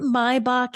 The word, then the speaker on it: Maybach: it my wait wait why is it mybach and not Maybach that's the German pronunciation of it is it we're saying